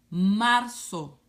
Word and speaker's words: marzo: said rare Oh Marco the letter Z and Spanish sounds like the letter s marzo Abril ah breathe abrini